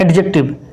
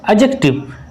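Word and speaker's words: adjective: फिर हम देखते हैं एडजेक्टिव, एडजेक्टिव इट्स नॉट एडजेक्टिव, यहाँ पे डी क्या है, साइलेंट है, इट्स एडजेक्टिव। एडजेक्टिव क्या है, क्वालिफाइज ए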